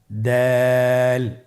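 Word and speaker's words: دال: দাল হরফটি বারিক হরফ। এই হরফটি উচ্চারণ করার সময় আমরা অবশ্যই 3 আলিফ টেনে পড়ব।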